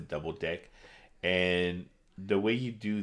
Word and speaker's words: deque: a double ended queue so we just pronounced a double deck and the way you